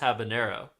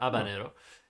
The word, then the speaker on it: habanero: In fact, there is no ñ on the end. So, it's just habanero or abanero if you're not pronouncing the H. But the ñ pronunciation or is it tilde? I don't remember what the the term is. Is so common that it has become a secondary pronunciation.